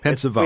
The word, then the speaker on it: Pensavalle: Your last name, is it pronounced Pensavalle? There's an E at the end of it. Good morning. How are you? And good morning. What's the correct pronunciation? It's Pensavalle. Pensavalle.